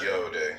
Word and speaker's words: yod: Yod pronounced yode, transcribed as I, Y, the number 10, meaning creative hand, the intelligence of will.